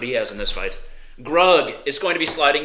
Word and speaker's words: Grug: Grug rhymes with slug.